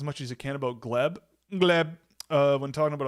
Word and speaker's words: Gleb: Um, can he just how to pronounce Gleb? It's just Gleb.